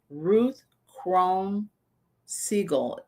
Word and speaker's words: Ruth Krone-Siegel: But how did you get connected with Ruth Krone-Siegel? Is that the right pronunciation Correct.